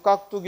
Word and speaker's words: 깍두기: 그래서 깍두기 할 때 뚜로 발음 나도 두로 적었지.